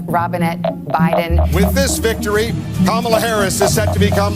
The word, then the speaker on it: Kamala: Kamala, pronounced as Kamala, did it Kamala's Way.